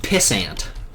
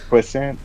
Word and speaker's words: puissant: Yes, as Otaku says, I believe it's pronounced pissant. That's not true. It's not true. Puissant? Yes, this.